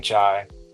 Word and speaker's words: qi: now when I say when I see chi I remember that westerners will spell it like ti and they'll say chi but uh in pine it would be qi.